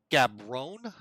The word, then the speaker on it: Gaborone: today in Botswana uh the town is a gabrone I believe is how you pronounce this Botswana the capital uh we are